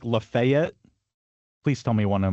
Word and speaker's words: Lafayette: Is the is one of them like Lefayet? Please tell me one of them is Lefayet. It is. It is. Which one? Yes. Alabama and Arkansas. It's laet. It's laet.